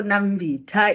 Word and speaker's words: Nambita: I like her name, but most people, they do not pronounce it correctly. So Nambita is just, you are tasting.